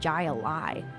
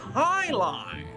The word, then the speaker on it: jai alai: fellows bloodhounds a heck guy a lie it's pronounced Highline what the heck is